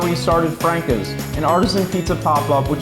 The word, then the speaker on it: Franca's: Yeah, it's pronounced Franca's technically, but everyone has their little personal preference on that.